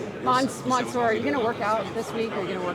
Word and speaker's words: Mansoor: Because everybody says mansor and I know it's monsour, but yeah, it's monsour. Um you know, uh it's pronounced spelled with a so I don't blame too many people. Uh but it's almost like O.